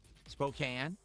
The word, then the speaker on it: Spokane: Spokane. That's weird. They they spell it with a E at the end because that would make it imply that the A is a full A, but it's not.